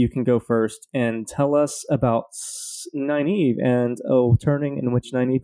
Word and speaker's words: Nynaeve: All right, Kat, tell us about Nynaeve. Or, I'm sorry, Nynaeve.